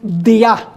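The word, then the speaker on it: διά: Es la preposición dia en griego. Día de I a. En vez de tener el acento día en la i, tiene el acento en la a.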